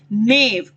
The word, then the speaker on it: knave: नेव, KNAVE, नेव। Okay, के silent है यहाँ पर, इसकी प्रोनाउंसिएशन ऐसी है जैसे कि हो ही ना इसमें, नेव।